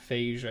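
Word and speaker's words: Feige: to be talking about Kevin phage phaser I guess is how you say it before this evening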